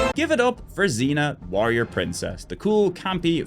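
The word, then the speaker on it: Xena: for last, and it's from a series that rhymes with Sabrina, so that's convenient. Give it up for Zena Warrior Princess.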